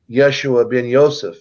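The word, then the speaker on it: Yeshua ben Yosef: came in as Jesus which is actually Yeshua bin Yosef is really how you pronounce his name and he left a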